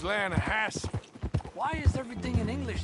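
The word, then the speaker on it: Lannahechee: Down to the Lanahatchee River, I caught some beautiful steelhead trout. You mean the Lanahassee River? No. The Lanahatchee. It runs right near here. Yeah, but it's pronounced Lanahassee.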